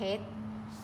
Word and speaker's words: เพชร: เดิน บิณฑบาต บาท พี่ เพชร เหนื่อย มาก ไหม คะ เมตร เป็น หน่วย วัด ก็ ไม่ ออก เสียง รอ เรือ นัก เรียน ลอง อ่าน